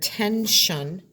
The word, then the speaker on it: tension: This word is the word tension, and it has that shun sound, but at this time it's spelled with an S-I-O-N.